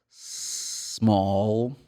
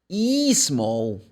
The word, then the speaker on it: small: S for S small look the first letter is letter s but the sound is s and Brazilian students normally say is small they put one more syllable in the beginning they say e no it's pretty much